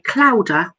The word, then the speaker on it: clowder: a group of cats Kaldur is spelt C L o WD e are like chowder but not the researchers